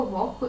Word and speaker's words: вогко: винятків кігті нігті легко вогко і дігтяро ці всі слова у вимові матимуть х але на письмі звісно вони матимуть г кі г ті ніг